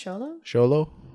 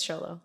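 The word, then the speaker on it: Xolo: solo i think it's charlo the mexican hairless yeah correct us on that pronunciation if you have a mexican hairless dog but i think it's show low okay but they need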